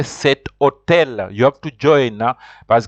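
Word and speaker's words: cet hôtel: For example, you can't say home, you have to say cet homme. Just like the word hotel, you have to say cet hotel.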